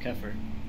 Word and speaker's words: Keer: No, I think you're right. It's just Keer.